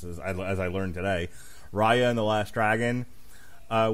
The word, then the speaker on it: Raya: talking about ray raya this is how you pronounce it now this is as i learned today raya and the last dragon uh wednesday we've got